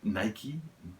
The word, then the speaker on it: Nike: air force one and i say night because i'm from the uk and that's how we pronounce it i know other people